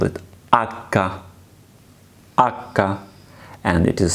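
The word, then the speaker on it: acca: not h in Italian language we call it akka akka and it is silent litter we do not pronounce it at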